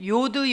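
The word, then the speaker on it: יוד: 하나 더 나가 봅니다 자 이건 요드 예요 요드 이음 발음이 납니다 그런데 이것도 이제 모음을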